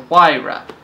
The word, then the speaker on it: Huayra: The new model, the Huayra, a lot of debate, obviously, as to how to pronounce it, but I believe that's how Horacio says it.